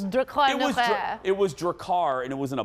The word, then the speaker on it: Drakkar: just have some crappy male perfume who's jakar drakkar what do your car i said it right dracar no i love that jeffrey's correcting me about 90s cologne pronunciations decline was that it was dracar and it was in a black bottle and